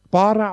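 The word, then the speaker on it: ברא: Das Wort Schöpfen im Hebräischen Bara ausgesprochen, B-A geschrieben.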